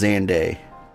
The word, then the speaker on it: Xande: in zand's Calamity also I did learn it is pronounced xande so I've been saying it wrong this whole time survivors stood amidst the